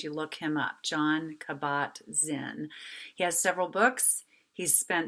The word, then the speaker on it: Kabat-Zinn: say his last name, Kabat-Zinn is how I'm pronouncing that. That could be really unfair, but it's spelled K-A-B as in boy, A-T hyphen capital Z-I-N-N.